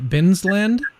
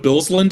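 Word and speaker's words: Bilsland: He recently received his PhD from and was a Binsland Fellow at Purdue University. Is that the right? Is that the right way to say that? Billsland, I think is the pronunciation.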